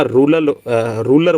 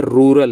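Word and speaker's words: rural: और भाई एक थोड़ा सा देखा ना, कुछ साथी ना इसको ना रूलर बोल देते हैं, रूलर गेम। तो भाई ये क्या है? रूरल है।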